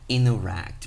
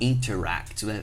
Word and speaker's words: interact: A gente não pronuncia o T. Mas quando é que eu vou saber que o T é mudo e quando não é? O segredo tá aqui, ó. No N e em seguida vem uma vogal. Então você não vai falar interact, você vai falar interact.